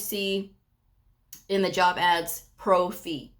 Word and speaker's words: pro fee: You'll sometimes see in the job ads pro fee. P R O dash fee. Pro fee. Now I spell it out because I've had several people what did she say?